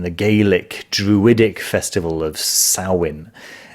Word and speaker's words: Samhain: gaelic druidic festival of sarwin it's spelt samhain but it's pronounced sauwen and that heralded the